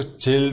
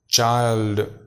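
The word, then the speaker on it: child: بوائے لڑکا، girl لڑکی، چائلڈ، دیکھو اس کو چلڈ نہیں پڑھنا ہے، چائلڈ بچہ۔ فورٹ، اس میں جب فلوئنسی کے ساتھ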